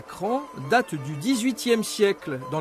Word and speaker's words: Craon: bonjour bienvenue à craon enfin pour ceux qui ne sauraient pas encore ça s'écrit craon mais ça se prononce cran et nous sommes devant